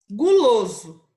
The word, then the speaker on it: guloso: não falo oi tá guloso o estou falando da letra u então será vermelho e